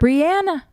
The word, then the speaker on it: Breanna: Because yeah, everybody deserves to have their name pronounced correctly. It's Breanna Stewart. Breanna.